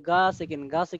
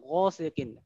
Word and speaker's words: غ: এখানে এইভাবে বলবো না, অনেকে আমরা এরকম বলি গা সেকিন না গ সেকিন, এটা মোটা হবে, ঠিক আছে, তো আমরা